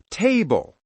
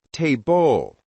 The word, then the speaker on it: table: For example, table, not table. Happy, not happy.